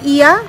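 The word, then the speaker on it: Oia: আমরা কালকে গেছিলাম ইয়া বা ওইয়া, যেটাই আমরা বলি, ইয়াই অ্যাকচুয়ালি প্রোনাউন্সিয়েশনটা।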